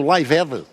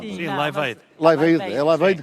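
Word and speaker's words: Live Aid: Lembro-se do movimento Lived? Sim, a minha pronúncia é má liveid que se diz.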